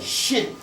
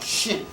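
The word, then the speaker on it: shen: cartouche a french name it's a shin s-h-n or if you can put a little e in there if you can't pronounce it a shin so the sarah and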